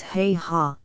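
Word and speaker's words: Haigha: happy his name is heha he pronounced it so as to rhyme with Maya I love my love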